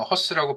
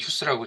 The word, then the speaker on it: HUSS: 어, 그러니까 저희 사업명은 휴스인데요. 이제 그냥 허스라고 발음을 하지만 그러니까 사업명은 휴스라고 이제 일반적으로 얘기를 합니다.